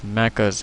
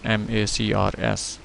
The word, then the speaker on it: MACRS: Rather, we shall focus more on modified accelerated cost recovery system, which is pronounced as MACRS, MACRS.